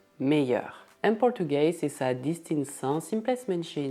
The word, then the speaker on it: meilleur: Imagine que o L duplo é um Y. Então, não se diz melheur, mas sim meilleur.